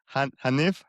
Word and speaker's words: Hanif: Hanif, how you pronounce Yeah, it properly? perfect. Hanif.